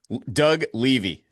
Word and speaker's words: Doug Levy: Doug Levy. Levy. Just a a hardy. Levy. Well, Doug, I mispronounced your name and you just told me